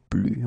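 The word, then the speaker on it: plus: example is blue a blue okay so you can see that I don't pronounce it final final s blue ftig okay so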